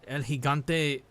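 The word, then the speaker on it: El Gigante: Elhigante uh pronounced correctly.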